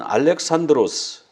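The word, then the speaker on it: Αλέξανδρος: 겁니다 자의 알렉산더 대왕은 헬라 말로 는 알렉산드로스 우리하고 발음하는 게 다르지요 알렉산드로스 인데 아리스토텔레스 한테 그 철학을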